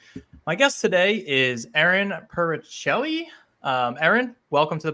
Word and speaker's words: Puricelli: name right or close it's close it's Peli so the second ey is silent the crazy hidden Italian eye okay awesome perfect I